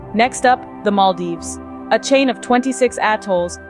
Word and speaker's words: Maldives: World waiting to be explored just remember to pronounce it right it's Maldives not Maldives we wouldn't want you to take a dive